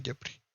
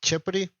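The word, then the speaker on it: Khepri: Ahora, pasamos a la cuarta maravilla, es que Yahweh es más grande que Jepri. Bueno, creo que la pronunciación correcta es Chepri.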